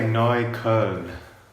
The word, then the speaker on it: Neukölln: He's living in Neukölln. How do you say that? Neukölln? You'd say Neukölln.